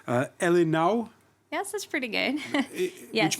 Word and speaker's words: ele não: Let me see if I pronounce this right. Elinau.